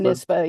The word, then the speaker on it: Sophonisba: yeah, it could be Sophonisba. Is that how you say her name? Sophonisba. Sophonisba, yeah, Aunt Sophie, as she's also called.